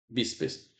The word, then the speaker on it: bíceps: Por exemplo, a palavra bíceps. Bíceps. Olha o bíceps. Então, bíceps, a sílaba forte é essa daqui.